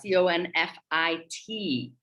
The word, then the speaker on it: confit: confit this week uh c-o-n-f-i-t pronounced confit is the term that comes from uh the french language like we know so